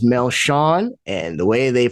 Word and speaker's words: Melchion: My name is Melchion, and the way they pronounce it down there is Melchion.